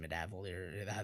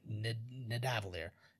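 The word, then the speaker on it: Nidavellir: I can't even pronounce it. Midavalier. There you go. Nidavalier.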